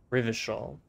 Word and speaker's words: Rivershaw: century's greatest superpowers the souza reign of rivershaw rivershawl that's how you pronounce it oh that's pretty bad mal administration